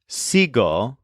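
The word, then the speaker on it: sigo: the stem is stressed the letter E in seg turns into an I so the most common conjugations are SEO spelled s i g o and seas spelled s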